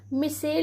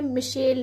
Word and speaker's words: micelle: और ये जो हमारा मिशेल है, हिंदी में आपको सभी जगह मिसेल लिखा हुआ मिलेगा, तो आप चाहे इसे मिसेल भी लिख सकते हैं और इसका जो सही प्रोनाउंसिएशन है वह क्या है? वह मिशेल है।